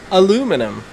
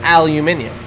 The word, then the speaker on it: aluminium: So, I've always said aluminium. Yeah, in Australia, we say aluminium. Australia. I think in most parts of the world you say aluminium. Yes. But in America, as is their wont, they do like to pronounce some words differently and spell a lot of words differently.